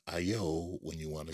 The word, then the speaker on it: ayo: It's spelled A-Y-O, and if you read it, you think it actually says ayo, which is a common street greeting here in at least New York City.